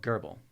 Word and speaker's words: GRBL: There's a software program that runs on an Arduino called Gerbil. Gerbil, Garble, Gerbil. GRBL is the acronym. I've got on good authority that it's pronounced every one of those ways.